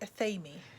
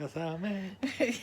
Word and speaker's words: athame: So, I say Athame. And you say Athame. Yes. So there are lots of different pronunciations of Athame that you can say, because nobody actually knows how it's pronounced.